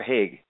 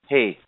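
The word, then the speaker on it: Haigh: Is it Hay or Haig? I believe it's Hay. That's the way I've always said it, yeah.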